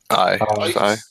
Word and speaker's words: AI: But, So how do you pronounce the name of the arc? Is it State of AI? Aye. Aye. Oh. It's just aye.